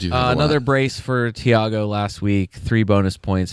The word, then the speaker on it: Thiago: Is it Theiago or Thiago? It's just Thiago.